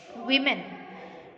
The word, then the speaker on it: women: और इसका प्रोनाउंसिएशन क्या होगा? वीमेन, वीमेन.